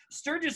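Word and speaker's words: Stirges: Literally, it's called Sturgis. Well, it's S-T-I-R-G-E-S, but I think you pronounce it like, you know, the bike rally that got everybody saying.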